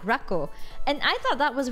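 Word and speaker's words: ラッコ: chat for you yeah it's pronounced like rco and I thought that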